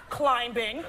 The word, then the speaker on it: climbing: climbing trip was it she said climbing with the B the B is silent guys how about this climbing trip what's wrong for